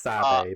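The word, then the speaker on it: Sabé: It's pronounced Sabe, by the way. Sabe. When you were saying Sabe earlier, I was like, what the hell is he? He's saying Sabe wrong.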